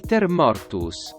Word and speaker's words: Civiliter Mortuus: are only presumed to exist; Civiliter Mortuus, "Cheevileeter Mor-too-s."